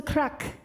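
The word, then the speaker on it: craic: crack oh wait now crack is different in ireland than it is here in the united states it's spelled c-r-a-i-c and it means good times so when i say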